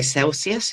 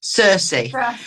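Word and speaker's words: Cercis: I want to say Celsius. It's not Celsius. Circe.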